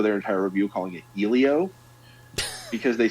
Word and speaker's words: Elio: if they go their entire review calling it Elio because they say his name over 30 times in the film.